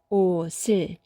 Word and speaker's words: 옷을: 옷을, 받침과 을을 연결해서 네, 옷을이죠. 옷을, 옷을.